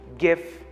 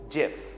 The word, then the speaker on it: GIF: The last one on today's list is GIF or GIF. Now, some people prefer to pronounce it as GIF and some others pronounce it GIF. It doesn't really matter. You choose the way you want to pronounce it.